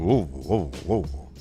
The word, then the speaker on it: Louisville: You have to like sound like you're like starting an engine. Louisville. That's the best way to do it. An antique engine.